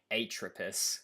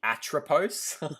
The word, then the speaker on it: Atropos: bro it's so eight where's the i atropus you mean atropos oh yeah by the